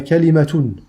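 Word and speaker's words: كلمة: Alors quelles sont les trois façons de prononcer le mot kalima en arabe? Amma lughatuha fa kalimatun, kalimatun, ala wazni nabiqatun, ala wazni nabiqatin.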